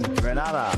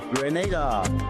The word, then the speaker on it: Grenada: So, today, like we Germans say, we are in Grenada. But I heard in English it's called Grenada.